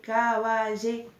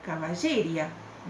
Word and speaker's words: caballería: O si no, cuando a la vocal cerrada, que es la más débil, le ponemos acento, le ponemos tilde, como ahí que dice caballería. Si yo no le pusiera tilde a la palabra caballería, tendría que pronunciarlo caballeria. Suena feo.